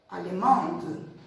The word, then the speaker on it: allemande: Porque no primeiro caso, que não tem a letra E no final, que é o masculino, a gente não pronuncia o D. Então, a gente termina no alemão, alemão. E quando a gente coloca a letra Ezinha no final do feminino, a gente não pronuncia o E, mas aí a gente vai até o D. Allemande, allemande. Então, se eu digo um